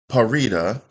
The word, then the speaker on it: Parita: One with, and you told me her name is pronounced Parita.